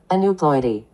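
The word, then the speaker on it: aneuploidy: an new Ploy let's see how this is pronounced a new Ploy a new Ploy yes so again non disjunction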